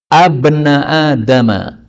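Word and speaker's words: ابن آدم: Perhatikan cara membacanya ya. Abna Adama, bukan ibna, tapi apa?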